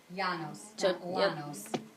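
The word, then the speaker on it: Llanos: there's two L's together yanos two L's makes a y sound in Spanish yep me no so when you go to the yanos region it's a tropical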